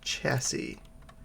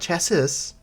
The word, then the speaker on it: chassis: Yes, the simple machine chassis. Not chassis, chassis. The last S is silent.